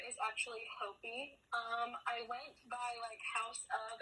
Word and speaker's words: Hopey: I know how to pronounce it because I've talked to you before. It's Hopey.